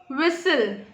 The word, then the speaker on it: whistle: So we'll write whistle. So T is not pronounced as this word.